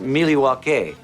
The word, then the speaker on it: Milwaukee: trade with the Native Americans in fact isn't Milwaukee an Indian name yes Pete it is actually it's pronounced milwa which is El gonin for the good land